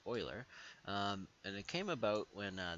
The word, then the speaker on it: Euler: that Euler is spelt e Euler but it's pronounced Euler and it came about when this guy was